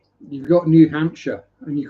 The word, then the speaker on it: Hampshire: You don't call it New Hampshire, but I've I've heard Americans in videos call it Hampshshire. You know, it's Hampshire. You've got a Hampshire. Why are you adding letters that don't need to be pronounced?